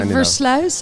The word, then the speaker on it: Versluis: I think I mispronounced them, by Ellie Uitenbroek and Versluis. Please correct me. You're very close. All right. It's the Versluis and the Uitenburg, but it's all right.